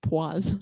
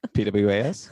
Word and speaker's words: poise: that word means was it's pronounced poise is it pwas i've been spilling around this whole time uh very nice